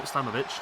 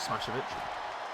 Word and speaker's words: Slamovich: As Smashovich, yeah, no, Slamovich, not Smashovich.